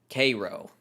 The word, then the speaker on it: Cairo: And there is a town in Georgia that is spelled Cairo, like the capital of Egypt, that is pronounced Cairo.